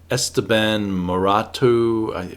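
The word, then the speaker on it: Esteban Maroto: & Sworcery covers back in the 70s and Esteban Murat - that's how you pronounce his name an artist who did a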